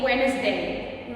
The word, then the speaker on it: Wednesday: When is a lot of people still say Wednesday, but the correct way to say it actually Wednesday.